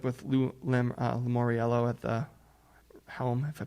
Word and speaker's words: Lamoriello: to bring in a big name, like with Lamoriello at the helm, if I pronounce his name right. I forget. Is it Lamoriello?